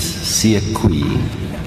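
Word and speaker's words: Sekoei: Uh let me just um it's sui um s e k o e i according to the list of witnesses.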